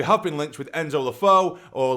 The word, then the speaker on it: Le Fée: Enzo lefo or lefi I'm pretty sure you pronounce it lefo but as you know I butcher names a lot but I am pretty sure it is lefo because it has the little thing on the E but you know what